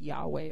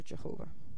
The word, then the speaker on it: Yahweh: the name of God, which we pronounce Yahweh or Jehovah.